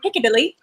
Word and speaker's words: Piccadilly: So Piccadilly. Did I say it correctly? Piccadilly.